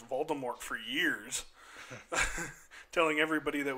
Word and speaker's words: Voldemort: Rowling had actually once said that it was supposed to be pronounced Voldemort with a silent T.